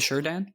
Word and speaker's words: Shurdan: The Sure Dan? It's like, sure, Dan. Oh, okay. With a comma in the middle.